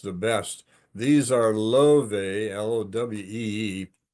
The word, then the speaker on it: Lowe: These are Lowe, L-O-W-E-E, pronounced Lowe, little hand pruner for when you have big stuff to cut.